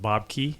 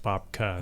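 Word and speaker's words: Bobke: But to reiterate what you said, so Bob Roll had his first book called Bob Key. Yeah. Or it's actually should be pronounced Bobka.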